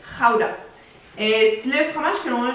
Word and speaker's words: Gouda: Donc, selon les Néerlandais, il faut le prononcer Gouda.